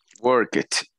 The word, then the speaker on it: worked: Worked. Worked. Worked. Worked. Worked. Esse é, não pronuncia. E por que que é T, esse D tem som de T?